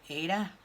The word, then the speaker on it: Aida: I think that's how you say it, Aida, A-I-D-A.